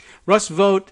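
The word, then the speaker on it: Vought: tweet from Russ vote is that how we pronounce the vo ug HT Russ vote is the is actually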